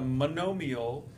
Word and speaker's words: monomial: Polynomials, well let's start with the monomial, that's this word right here, M-O-N-O-M-I-A-L, pronounced monomial, mono meaning one.